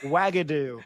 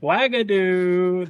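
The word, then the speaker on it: Uagadou: I'm definitely going to mispronounce this, so fix it for me. Uagadu. It's the one in Africa. Wagadoo. Wagadoo.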